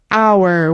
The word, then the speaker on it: hour: Hour. We never pronounce the H.